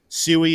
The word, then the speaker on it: Sui: Community say soie that I'm going back to sui I'm returning my roots suie is the pronunciation we're going with uh SM says is